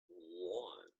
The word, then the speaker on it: ln: This I have mentioned a few times, but it's pronounced lawn, as in mow the lawn.